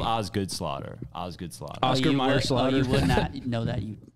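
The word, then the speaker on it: Osgood-Schlatter: I had Oscar Schlatter's.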